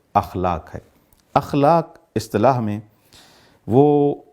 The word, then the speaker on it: اخلاق: اخلاق کو اصطلاح میں بعض ہمارے دوست اس کو اخلاق بھی کہتے ہیں۔ اخلاق غلط ہے، اس کا صحیح تلفظ اخلاق ہے۔ اخلاق اصطلاح میں